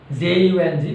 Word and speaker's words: Jung: This story is written by a lady writer, Anis Jung, J-U-N-G, pronunciation is Jung, Anis Jung.